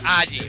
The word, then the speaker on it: Agi: So it's Aji, apparently, is the pronunciation.